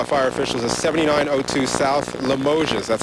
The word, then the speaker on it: Limoges: we're told by fire officials is 79 South limoges that's how the locals pronounced that we are told that an eight-year-old